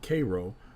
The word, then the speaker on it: Cairo: to the uh mississippi alexandria virginia and little cairo illinois though the locals pronounce it cairo are the other egyptian derived towns so we're